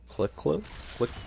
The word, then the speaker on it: Klecko: And this one dude I have, he's a 96, and I don't know how to pronounce his last name. It's Joe Klecko?